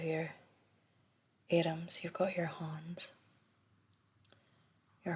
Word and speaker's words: hands: atoms you've got your hans your hans don't really pronounce the d and instead of han